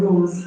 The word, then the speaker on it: rose: Now the S in rose is pronounced Z. Okay. See? Yes. The S in rose is pronounced. It's not rose. It's rose. Z like zoo.